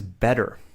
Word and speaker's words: better: I pronounce it Americans pronounce it like bed. Better better. So, we're pronouncing that T sound like a D. But in the UK, they would say better. So, you can see they're pronouncing the T like a T T.